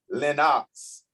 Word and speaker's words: Lenox: And remember, those of you who are listening, it's pronounced Lenox. Lenox.